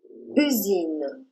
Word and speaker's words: usine: Voici comment s'écrit le son U. Répète après moi. U. U. U comme dans usine.